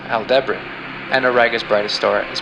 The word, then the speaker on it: Aldebaran: Taurus' brightest star is pronounced Aldebaran.